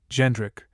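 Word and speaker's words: Jędrek: Polish spelling, Jedrek, pronounced as given, Jendrik, with the French sound of N.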